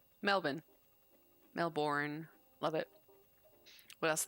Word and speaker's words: Melbourne: They pronounce it close to the Aussie. Oh, it's Melbourne. Melbourne.